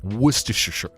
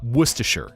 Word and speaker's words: Worcester: Like Worersher. Uh, worster. Oh my god, I almost butchered it. Worster.